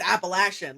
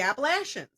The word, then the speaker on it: Appalachian: But listen, if somebody tells me I'm pronouncing something wrong, especially if it's a heritage thing, it's Appalachian.